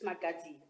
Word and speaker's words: Magadzi: Can I just confirm the correct pronunciation of your surname? Is it Magadzi or what is the correct pronunciation? That's correct. Magadzi. That's correct. It's Magadzi. Okay, all right, thank you.